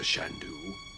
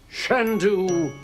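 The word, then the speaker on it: Chandu: Not Mr. Shandoo. Shand do the magnificent accent on the scent.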